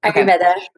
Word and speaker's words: Ayurveda: Am I saying it right? Ayurveda? Yes, Ayurveda.